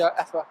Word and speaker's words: Aether: more features that the Aether has to offer. Okay, 1, 2, 3. So now we're inside kind of the Aether or Ether, depends on how you pronounce it.